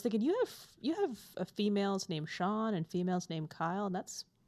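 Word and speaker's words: Siân: Well, I mean, Sean it's Welsh and it's SIAN and it has a little, like, I don't know what it's called. It's a little diacritical.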